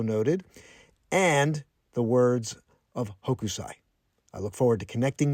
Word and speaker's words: Hokusai: Upon further research, it looks like the correct pronunciation for the Japanese artist is Hokusai. Hokusai. I was saying Hokusai.